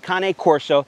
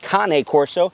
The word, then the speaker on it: Cane Corso: a half month old kane corso that's right folks that's how you pronounce it kane corso but it looks more like cane corso look say it however